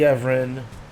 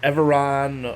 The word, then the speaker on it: Everon: I like the Everon a lot, or Everon, or Everon. I've heard it pronounced multiple ways, but I like it.